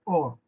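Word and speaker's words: אור: Se lee de derecha a izquierda y se pronuncia Or, conformado por las constantes Aleph, Vav y Resh.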